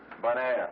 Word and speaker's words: Bonaire: Bonaire, you know, bon, good, air, Bonaire.